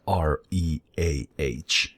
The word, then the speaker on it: Reah: But I guess it's still pronounced the same way as Reah, no matter how you do it.